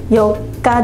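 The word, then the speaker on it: 四日: 読み方もあります。4 日。例文いきます。明後日は 4 日です。明後日は 4 日です。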